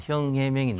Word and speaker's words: 싱하이밍: 제가 볼 때 뭐 또 보복한다는 것은 조금 예상하기 좀 힘들고 지금 싱하이밍 그 대사를 보면 저도 좀 아는데 그 한자가 우리나라 발음으로는 형해명입니다. 형해명인데 형해명 우리 발음으로 읽으면 그런데 싱하이밍 대사는 좀